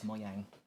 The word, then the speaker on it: Mojang: Though if you were pronouncing it in Swedish, it's Mojang.